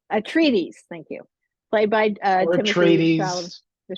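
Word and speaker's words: Atreides: of of Paul um what how do you pronounce the last name uh Paul a treaties a treaties thank you played byes the trades yeah the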